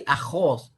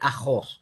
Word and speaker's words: ajos: told me she responded i don't say ajos i say aho so she pronounced it